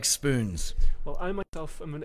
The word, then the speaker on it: Spoonz: director of an organization called Spoonz, with a long O in there, Spoonz, and a Z at the end.